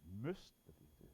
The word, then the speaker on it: MUST: firm called must industry pronounced as most must you can go